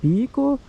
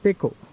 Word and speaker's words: pekoe: k o e in some sources say it's poo including some very wellknown dictionaries but most of the people in the tea industry they they pronounce it as PCO because uh that PCO word comes from b